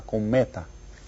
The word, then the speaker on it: cometa: Una cometa. How many syllables? Did you get it? Hay 3. And which one is stressed? Did you get it? The second one.